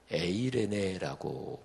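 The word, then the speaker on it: εἰρήνη: 신약성경이니까 신약 성경에 단어로는 헬라어로 에이레네라고 발음합니다 그리고 구약성경이 히브리어로 쓰였는데 구약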